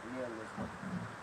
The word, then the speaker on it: nihilism: No, nihilism.